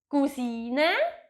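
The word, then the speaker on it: Cousine: exactly the same but of course we pronounce it the french way so cousin the female version is cusina and the male version is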